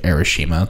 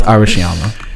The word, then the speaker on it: Arashiyama: I was like, I called it Arashima the entire time we were there. Oh my god. It's Arashiyama. I could not pronounce that place for the life of me.